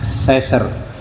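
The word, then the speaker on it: sacer: Dulu di zaman Yunani kuno, manusia seperti kita ini disebut homoer atau homo saser tulisannya ya homo ya s a c e r itu bacanya seser ya manusia suci.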